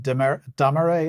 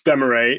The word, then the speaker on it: Dameret: uh you are interviewing Laura de deay is that how you pronounce her name well I was unsure as well but no it's Demay Laura Demay is a